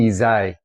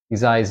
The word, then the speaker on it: Ysaÿe: a musician and um changing his name to say s a y uh is sort of a nod to how you actually say um that family's name.